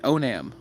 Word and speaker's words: Onam: Okay, Onam. Onam, that's how you say it.